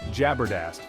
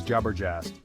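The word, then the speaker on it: जबरदस्त: Evolutions lead to some interesting and often incorrect pronunciations take the Hindi word jabardast for example this word meaning awesome or fantastic is often mispronounced as jobber jast it's a common mistake but it highlights how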